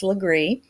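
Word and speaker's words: Laurens: where where are we at we're we're in lree county and it's spelled like leair but South Carolina cannot um pronounce anything correctly especially if it's hugenot French so it is actually pronounced lree and the town is called Lower Conger okay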